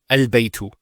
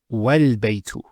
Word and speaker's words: البيت: that with hamzatul wasl, if it starts off a sentence, it's pronounced. So, al-baytu. But if there's something before it, let's say a vowel, what happens? It's wal-baytu. So this is not pronounced because it's in the middle of a sentence.